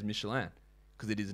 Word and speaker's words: Michelin: Like, Michelin is not an American company. It's a French company. That is why I said it as Michelin.